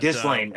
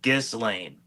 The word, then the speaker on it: Ghislaine: I I have about four different ways to pronounce her name, but Gizling.